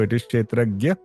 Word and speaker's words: Kshetrajna: So it is pronounced as Kshetrajna. Unfortunately, there is no letter in the English language that can bring out that pronunciation. So we write it as JNA. So it is Kshetrajna.